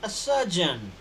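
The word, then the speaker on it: surgeon: करना है ध्यान दीजिए सर्जन में र को साइलेंट करना है तो आपको बोलना ही इ सर्जन हम वेरी गुड ही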